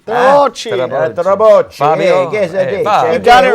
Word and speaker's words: Trabocchi: Chef Fabio Trabocchi. Trabocchi.